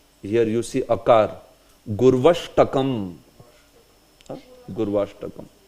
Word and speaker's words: Gurvashtakam: So the Ashtakam that we saw is known as Gurvashtakam. So here many times we mispronounce by saying Gurva. It's not Gurva, it is Gurvashtaka.